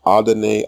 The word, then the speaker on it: Adonai: Adon and Adonai are Canaanite pronunciation. The correct pronunciation in Hebrew is Adonai.